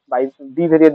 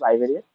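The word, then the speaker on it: bivariate: এটা হচ্ছে আমাদের মূলত বাইভেরিয়েট অ্যানালাইসিস, বিআই ভেরিয়েট, যেটা বাই বি ভেরিয়েট বলে অনেকে, বাট এটা উচ্চারণ হচ্ছে বাইভেরিয়েট।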